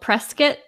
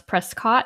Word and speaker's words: Prescott: about well here there's a place called press kit that everyone wants to pronounce Prescott because all the way it's spelled I think I think